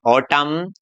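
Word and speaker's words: autumn: जैसे यहाँ एन से पहले क्या आ गया? एम। तो हमारा जो एन है वो क्या रहने वाला है? साइलेंट रहने वाला है। तो देखिए इसको बोलेंगे हम ऑटम, कोलम, सोलम, लिम, कॉन्जेम, हिम, डैम, गोडेम।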